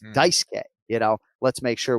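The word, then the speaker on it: Dice-K: release saying you know don't call him daisuki you know it's dicekay you know let's make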